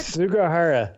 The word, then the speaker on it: Sugahara: We'll talk about that here in a minute, along with Kenji Sugahara. Am I saying it right? Sugahara.